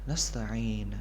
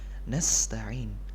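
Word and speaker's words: نستعين: harus tetap terbaca airnya Oh iya Kak tetap nasta'in nasta'in nah kemudian yang harus kita perhatikan selanjutnya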